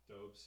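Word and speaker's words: Dobeš: You look at the Montreal guy, Dobes. Is that how you say it? Dobes, yeah.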